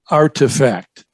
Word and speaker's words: RTFKT: metaverse get this another acronym rtfkt which is pronounced artifact there we go with